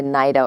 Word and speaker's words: NITA: law school i took the nida or anita program depending on where you're from in the state you pronounce it differently but it's the national